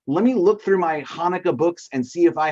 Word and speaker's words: Hanukkah: melissa taught us how to say the word hanukkah you guys can all say it say it